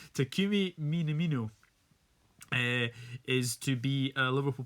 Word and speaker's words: Minamino: what do you make of this news Takumi mini-me no I'm gonna have to get used to this pronunciation Takumi minamino is to be a Liverpool player if you